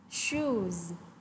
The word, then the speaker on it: shoes: Shoes. Z. Ở đây khác với cả slipper là chữ S của cô sẽ được phát âm là âm S. Nhưng mà ở từ shoes thì sẽ là âm Z.